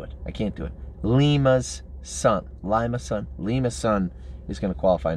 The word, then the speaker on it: Lima: Lima's son. I'm never calling him Lima's son. I don't care how many people are in Ohio saying it's pronounced Lima.